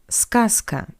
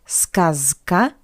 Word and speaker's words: сказка: Just look, the voiced consonant Z stands before the voiceless consonant K. That's why we pronounce Z as its voiceless analog S. Z, S. Not сказка, but сказка. Сказка. Z goes to S.